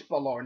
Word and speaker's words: Balor: Finn Balor um or I think it's Balor not Balor I I think that's how they pronounced it last week in NXT AKA Prince debit has